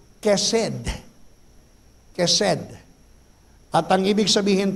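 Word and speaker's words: חסד: Ito po'y pinopronounce na may letter K sa una o may letter C sa una. Kaya pag pinronounce mo yung hesed, mercy, ang pronunciation po ay kesed.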